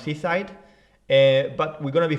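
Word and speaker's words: CSIDH: seaside uh spelled s-e-i-h-s-o-e spelled c-s-i-d-h but pronounced seaside but we're going to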